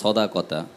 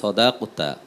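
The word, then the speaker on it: صدقة: আরেকটি হলো শেষে যে কথাটি বলল যে সদাকতা, এই শব্দের আসলে সঠিক উচ্চারণ হলো সদাকতা, মানে কফের মধ্যে সুকুন আছে, সুকুন আছে।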